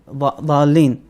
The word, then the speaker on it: ضالين: So ضالين and ظاهر. One is like a TH sound and one is like a DH. Sound quite heavy.